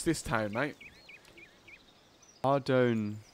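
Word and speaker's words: Ardougne: Ardoon. I was going to say Ardugny. We're going to the monastery. I think it's a silent G.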